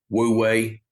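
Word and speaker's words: wu wei: in our life how how they say it the master observes World Way yes woo way way yes that effortless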